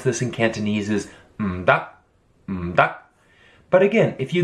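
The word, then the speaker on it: 唔得: Notice how the characters change here, and the way that you pronounce this in Cantonese is m-da, m-da.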